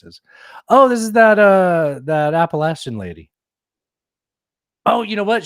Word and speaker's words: Appalachian: Oh, this is that Appalachian lady. Oh, you know what? She's getting mad at how people pronounce it.